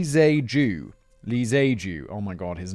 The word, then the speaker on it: Tze-keung: Victor, I've got a pronunciation guide at the bottom here. Victor Lee Tze-keung.